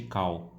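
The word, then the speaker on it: Kull: nome de Conan, mas eles chamaram de Col ao invés de Cal. Muito provavelmente porque o cu, né, como as pessoas, a pronúncia correta é Cal, mas a galera vê escrito cu e poderia dar algum problema, né?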